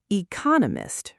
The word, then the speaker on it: economist: Oops, I think I mispronounced that. Economist, right? Stress on the second syllable.